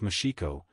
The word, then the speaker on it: Moxico: districts of bengela B moxico pronounced mashiko and parts of mange